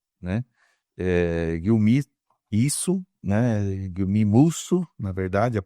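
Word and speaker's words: Guillaume: um autor francês, né, eh, Guilmi Isso, né, Guilmio, na verdade, a pronúncia.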